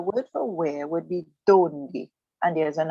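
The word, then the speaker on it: dónde: So because there is an accent over the O, you find yourself with the correct pronunciation will be donde. Donde.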